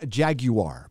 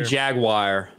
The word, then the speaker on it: Jaguar: manager yes uh hail friday night tights lord jaguar by the way uh 55 says hello friday